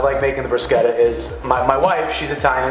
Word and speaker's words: bruschetta: We're making bruschetta. Bruschetta. That's the proper way that an Italian pronounces it? The true Italian way to say it.